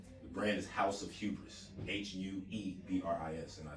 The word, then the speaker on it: hubris: other club online the brand is house of hubris h-u-e-b-r-i-s and i spell it that way um you know just to